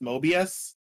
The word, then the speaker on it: Moebius: me it's Mobius but the O was replaced with an e but it's still pronounced Mobius it's it's moebius yeah there we go